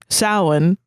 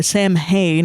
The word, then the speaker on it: Samhain: never say it, but Samhain or Samhain, if you're saying it wrongly, is the like original,